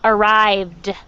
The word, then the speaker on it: arrived: going to work on that final d sound it's arrived all right okay my